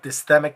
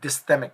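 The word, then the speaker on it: dysthymic: referring to um the next one is called dmic disorder let me spell that for you d y s t h y m i c dysic disorder dmic disorder basically means light depression for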